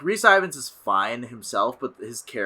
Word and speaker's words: Rhys Ifans: The villain is, you're going to have to remind me how to pronounce his name. Rhys right? Ifans. Rhys Ifans.